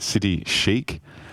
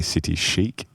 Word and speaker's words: City Chic: yes so I did City Chic which I was politely reminded by one of our community members the other week that I had been pronouncing it City Chi and uh apparently City Chic so anyway moving on